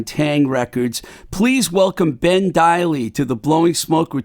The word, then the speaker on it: Deily: like meant to talk to him about the pronunciation of his name because i hear everyone call ben ben daley i've been hearing that for years but it actually is ben daily so i'm glad we got that right for